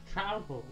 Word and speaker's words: Trouple: I want to say Trouple. Because it says half trout, half apple. Half trout, half apple! Pronounced like mouthful. Trouple, okay.